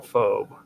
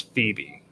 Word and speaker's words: Phoebe: NS now this one I always call phobe and I know that that's wrong but it's Phoebe um I always call